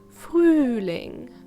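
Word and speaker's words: Frühling: fooling frooling meaning spring don't be thrown off by the umlaut you pronounce it by forming the same shape with your mouth as if you were whistling fooling next is the wind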